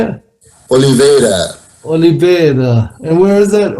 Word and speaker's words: Oliveira: Oliveira.